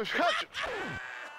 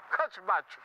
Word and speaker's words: hatchback: Es un coupé tres puertas con bach, con bach, con hatch. No lo estornudeo, Osvaldo. Se dice de la parte de atrás, se dice hatch, hatchback.